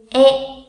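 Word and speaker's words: へ: E. Viết là he, đọc là e.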